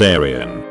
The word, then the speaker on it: Arian: Also, he named my niece Arian, pronounced like the constellation Orion.